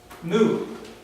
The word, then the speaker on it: mu: All right, mu. M, just an M sound.